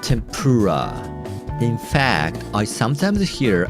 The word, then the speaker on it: tempura: longer than the others while japanese people pronounce all letters of it with the same length of time and the same pitch this tendency is called